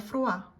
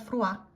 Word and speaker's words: froid: Il fait froid. It's cold. Il fait froid. You don't pronounce that D at the end, okay?